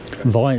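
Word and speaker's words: Vyne: Vine, is that how you pronounce it? The Vine, yeah. Right, it says Vern on the way up. Got it wrong.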